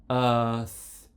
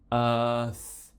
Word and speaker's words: Earth: British accent is that we don't pronounce the r when the next sound in the word is a consonant sound the next sound after